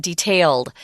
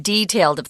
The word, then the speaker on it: detailed: Notice that when we read this word detailed out loud, it's not detailed. This is pronounced detailed, thorough and detailed in his process.